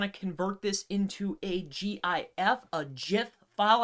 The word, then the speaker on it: GIF: convert this into a gif a gif file i know it sounds or looks like gif but it's actually pronounced jif who would have thought